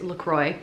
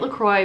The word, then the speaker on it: LaCroix: That said, the brand actually calls themselves LaCroix. So I'm calling it LaCroix because it's the brand name. But just know that I do know that it's a French word. And that's not how you say it.